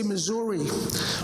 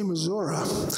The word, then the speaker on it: Missouri: incorrectly by the way they say Missouri but the old-time people in Missouri say missoura and K which is